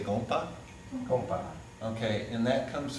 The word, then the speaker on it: gompa: Say gompa.